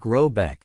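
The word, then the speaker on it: Råbäck: The manor house or Hergard in question is to be called Rubach pronounced something like Robbeck though that is not its name.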